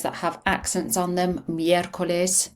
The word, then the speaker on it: miércoles: Miércoles, put the stress obviously on the word, on the letter with the accent on.